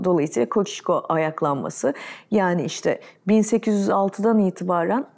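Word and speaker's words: Kościuszko: edemeyeceğinden Emin oluyorsun ama koçişko denilen Kaş ayaklanması var Zorla söylüyorum kocişko Çünkü o şeyin üstünde s harfinin üstünde bir Aksan var ya o şey olarak okunuyor Dolayısıyla koçişko ayaklanması yani işte 1806'dan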